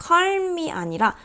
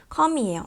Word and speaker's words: calm: calm은 calm이 아니라 calm이에요. L이 묵음입니다.